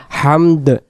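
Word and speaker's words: حمد: লাল কালারে আসবে না কারণ দুই অক্ষরে মিলে কখনো হাম আসবে না হামদ হামদ বাংলাতে হয় আকার হা ম এবং শেষে দলে যে শব্দটা আমরা বলি হামদ এরকম বলতে হবে রব্বানা লাকাল হামদ রব্বানা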